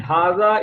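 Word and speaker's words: هذا: Second line, hada is used for a singular masculine noun and indicates nearness. Hada is pronounced hada, as I told you earlier, hada, but it is written without the first alif.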